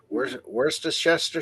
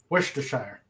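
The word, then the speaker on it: Worcestershire: or malt vinegar yeah wor shester SCE wor sauce thank you doll thank you I've I've never actually known how to really pronounce it worshire he makes it sound so easy wor wor okay wor sure awesome God only British people can actually say say those County names right yeah you got to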